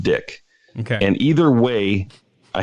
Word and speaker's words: Dyck: eyeball and they say dike and I roll with it I'm cool with it okay but it's actually pronounced dick okay and either way